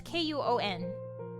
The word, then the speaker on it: Kuon: How do you spell it? It's K-U-O-N.